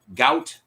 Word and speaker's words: Gout: So, uh, they he is named, and I'm not kidding you on this, and it's spelled how it sounds, Gout. Gout.